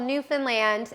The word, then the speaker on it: Newfoundland: that and it's called Newfoundland and it's pronounced like Disneyland okay and I grew